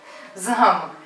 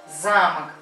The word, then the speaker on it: замок: Ударение замок на О. Это получается дверной замок. А замок, ударение на А, замок. Это получается целый дом, да?